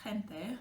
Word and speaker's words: gente: So in this case, you see it's not a r, yeah, it's a h, very soft h.